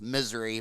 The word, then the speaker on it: Missouri: in uh missouri uh it's actually pronounced misery but it's spelled like missouri but anyway um um